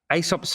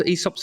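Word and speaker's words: Aesop: uh look at uh Asop's fables. Esop's fables depending on how you like to pronounce it and you know Asop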